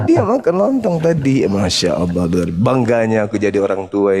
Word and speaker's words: Allah: itu kan yang di Bukan Allah. Allah. Allah Allah Ya, jadi di ejaan Arab itu tidak ada huruf O.